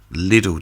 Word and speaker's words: Lidl: to have adverts and they kept using the word Lidl kept pronouncing it Lidl but nobody in this country not even the people that work there I'm death made up but Lidl no little because spell l-i-d-d-l-e little but Knights lead or nope no one would pronounce it Lidl everyone I imagine there's a few people that did but generally um little the years and years and years on the adverts Lidl it costs less at